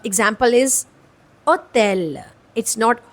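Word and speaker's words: hôtel: और इन the middle और एंड it's always silent हां सो a example is ओतेल इट्स नॉट होटल इट्स ओतेल means letter ash इज़ a silent letter here is well.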